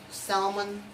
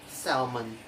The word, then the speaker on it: salmon: The letter L only has one rule, that is usually not pronounced after the vowel of the letter A, O, and U.